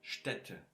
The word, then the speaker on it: Städte: Then you have a short and fast way to pronounce them in some ways. For example, hätten und Städte. Die Städte. Here Städte is plural, so die Städte.